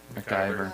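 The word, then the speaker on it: Ric McIver: Oh, Okay, Municipal Affairs, Minister, how do you pronounce his name? MacGyver.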